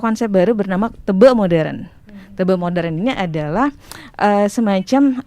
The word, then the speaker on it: teba: Kalau tulisannya sih teba. Teba. Teba. Tapi bacanya tebe. Bahasa apa tuh? Itu bahasa Bali.